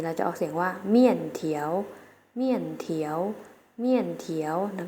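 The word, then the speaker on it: 面条: ใน ภาษา จีน แล้ว จะ เอา เสียง ว่า เมี่ยน เถียว เมี่ยน เถียว เมี่ยน เถียว นัก เรียน ออก เสียง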